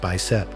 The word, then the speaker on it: BICEP: In 2014, the background imaging of cosmic extragalactic polarization, pronounced BICEP, reported a possible signal.